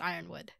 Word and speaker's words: Yronwood: Okay, I know it says Yronwood. I'm pretty sure it's actually pronounced Ironwood.